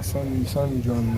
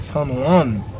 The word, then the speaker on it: San Juan: C'est pas San John, c'est San Juan. C'est J.O. J.O. pas prononcé même.